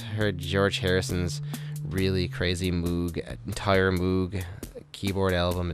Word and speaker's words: Moog: George Harrison's really crazy Moog entire Moog keyboard album it's very weird I have not he put it out it's pronounced mo what anyway George Harrison